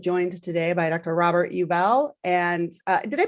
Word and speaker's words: Ubell: us i am joined today by dr robert yubell and uh did i pronounce it right robert yes perfect all right